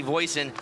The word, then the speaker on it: Voisin: Maggie Voisin rhymes with poison.